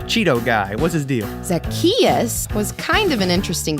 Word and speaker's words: Zacchaeus: zach cha ooze how is anyone supposed to pronounce that uh like this zacchaeus zack chachusa no what no it's like zach just say it after me zacchaeus zackarecka dingdong all right now you're just trying